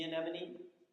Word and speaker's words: anemone: They mutually help one another for the gain of both, like the clownfish and the sea anemone protect one another. That's the first time I've pronounced anemone correctly.